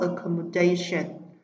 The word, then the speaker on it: accommodation: Phương án D, sẽ xuất hiện đuôi tion rồi trọng âm rơi vào trước nó, accommodation.